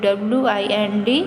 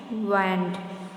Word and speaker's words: wind: Okay, here it is pronounced wand, and okay, w wand there. And next, the second sentence talks of the wind that blows. It is pronounced as wind.